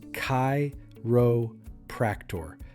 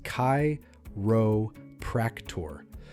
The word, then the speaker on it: chiropractor: The correct way is kairo practor. Start with kai, like saying the name kai.